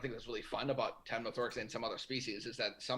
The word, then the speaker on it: Temnothorax: But I have a really hard time pronouncing a lot of these words, as you could tell. But how do temperate Temnorix species survive the winter? Temnothorax. Temnothorax.